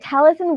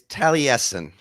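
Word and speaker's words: Taliesin: here thanks for asking me and did I pronounce that right talison West is that where you're working it's Talen is the Talen okay Talen um and just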